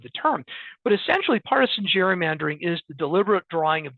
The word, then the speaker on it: gerrymandering: the some of the real hardcore um Jerry mandering experts who want to in who want to emphasize the historical tie will say Gary mandering as opposed to Jerry mandering but I think we most of us say Jerry mandering but it was Elbridge